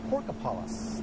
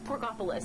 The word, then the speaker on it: Porkopolis: morning in Carmel at Porkopolis. Did I say that correct, Anna? No, I don't think you did. I think it's Porkopolis. Isn't that how you say it?